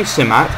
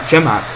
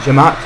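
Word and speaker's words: Cemaat: Actually, to be honest, that they say Simat in this game. It's actually Jemaat Janissaries, because C is pronounced like J, so it's actually Jemaat Janissaries.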